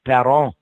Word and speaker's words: Perron: Yeah, That's the- well, because up there it's pronounced Perron. Yeah. And Perron. so that's the proper French pronunciation of our name.